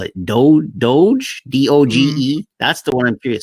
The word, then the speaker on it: Doge: the hint is woof woof so that's the doge that's how you say it that is the